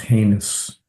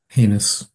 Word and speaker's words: heinous: that word is pronounced heinous h n o it's a misleading sort of a spelling heinous uh any member of